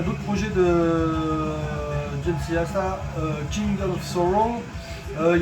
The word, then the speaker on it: Jasta: Eh bien parce que le producteur qui a participé à l'écriture et qui a participé aux enregistrements, c'est juste Jamey Jasta, ou Jasta comme on prononce, chanteur de Hybrid.